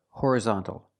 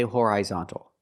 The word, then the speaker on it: horizontal: is hor horizontal or you can use the relaxed uh sound uh hor horizontal but don't say horizontal so in a horizontal